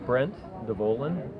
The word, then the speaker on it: Brent Devolin: Can you say your first and last name, spell it? My name is Brent Devolin, Brent Devolin.